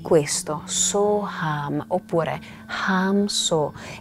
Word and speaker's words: Soham: Un altro mantra molto famoso e conosciuto è il mantra Soham, che lo puoi ripetere in questo modo, facendo durare So in modo abbastanza lungo la sillaba So e poi Ham, So Ham, So Ham.